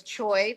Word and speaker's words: Choi: And my last name is in Korean is Choi, pronounced ch. So when somebody who is Korean asks me my name, I say